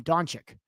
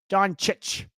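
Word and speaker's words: Dončić: I've been saying his name wrong for far too long. He called him Doncic. It's Doncic. That's what it is.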